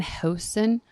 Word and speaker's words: Houston: houston that's his name dan houston it's house okay canadians say it properly thank you dan houston